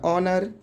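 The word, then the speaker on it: honour: दूसरा है तो आवर हो जाएगा, तीसरा हो जाएगा ऑनर। ज़्यादातर स्पेलिंग में डब्ल्यू के तुरंत बाद एच का उच्चारण नहीं होता है, ये पॉइंट याद रखिएगा।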